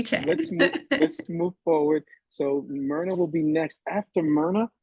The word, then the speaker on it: Myrna: My name is Myrna, it's spelled M-Y-R-N-A, but it's pronounced Myrna.